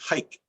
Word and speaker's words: haiku: three what they say is actually hike they swallow the u at the end even though they say